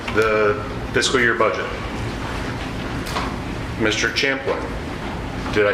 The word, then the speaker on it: Champlin: Champlin.